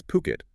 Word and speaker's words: Phuket: That's Phuket, if you want to sound like you know the place. Right, the local pronunciation.